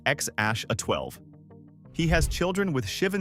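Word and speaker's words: X Æ A-12: names in human history, X A A Z, which somehow gets pronounced X Ash A 12.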